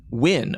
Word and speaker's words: Nguyen: How do you pronounce that last name? Nguyen.